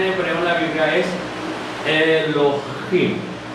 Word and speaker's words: Elohim: vemos que Dios, la forma en que se pronuncia en hebreo en la Biblia es Elohim.